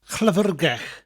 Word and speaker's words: Llyfrgell: Two double L's. One at the beginning, llyfr, and then one at the end, gell. Double L at the end is always pronounced slightly differently, more of a sound with a slight L.